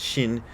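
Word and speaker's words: 心: It's pronounced the same in Japanese and Chinese, but they spell it with an X when they're talking about Chinese, and they spell it with an SH like sensible people when they're talking about the Japanese pronunciation, but both comes out Shin.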